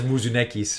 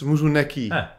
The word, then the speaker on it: Muni: your name I'm sure munis or something no no no it's muui there's no s at the end you can pluralize him